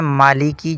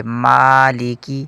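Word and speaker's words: مالك: لوگ اسے پڑھتے ہیں مالیکی جو کہ غلط ہے، میم کے اوپر کھڑا زبر ہے، اس کو ایک الف کے برابر کھینچیں گے، مالیکی۔ آگے ہے یومی، یوم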